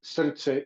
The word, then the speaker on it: srce: The word for the day is pronounced srce.